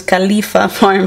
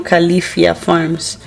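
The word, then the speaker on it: Califia Farms: crema es la verdad siempre pronunció mal el nombre no es califa fame si no califica farms esta marca de hecho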